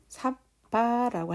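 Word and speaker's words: sabba: 삿바라고 했을 때에 삿바, 여기에 사 같은 경우에는 우리가 같은 발음으로 이렇게 한글로 사라고 발음을 하고요. 또 여기에 ba 바는 바라고 발음을 합니다.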